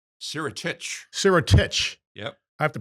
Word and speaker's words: Sirotich: Sirotich. Sirotich. Sirotich. Yep. I have to pronounce that.